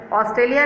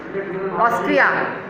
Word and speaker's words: Austria: Australia नहीं, Austria. बेटा just pronounce it properly, correctly.